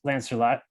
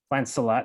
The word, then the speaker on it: Lancelot: war uh mars being lancer lot lancelot sorry i always pronounced it wrong the biggest knight of